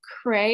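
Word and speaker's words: Creagh: 1735 a local businessman patrick cray is i believe the correct way to pronounce that he established a ship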